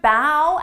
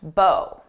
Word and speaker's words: bow: You should bow at the woman with the large bow. You can pronounce this as either bow or bow. It depends on how it's being used.